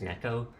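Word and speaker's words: Neko: originally said Kyo I when I saw the name the word NE e KO I thought it was ni my whole childhood growing up it wasn't until I was like an adult I found out it was Neco so I do try to pronounce it as kco now it kco basically translates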